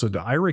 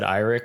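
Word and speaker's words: IRIX: guys have opinions on how to pronounce old versions of Unix IR or ER for SGI I always said IR but yeah me too yeah we always said ER and but we were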